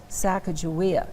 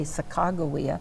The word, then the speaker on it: Sacagawea: Now in Great Falls we pronounce it Sacagawea. In other parts of the country they say Sacagawea or Sakakawea. Years ago I did an interview about Sacagawea. I'll always say it that way with a hard G.